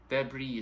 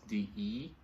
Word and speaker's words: debris: Debris is spelled D-E-B-R-I-S. So the S is kind of silent, and we pronounce it as debris and not debris.